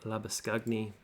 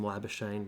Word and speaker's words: Labuschagne: Which, if you haven't watched the other videos, I'm attempting the Afrikaans version of his name, which is probably how it should be pronounced. But Australians are a little bit lazy when it comes to names and just want to call him Labuschagne because it's a little bit easier.